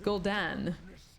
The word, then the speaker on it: Gul'dan: Oh, Gul'dan. It's Gul'dan. Incarnate. I always mispronounce the names.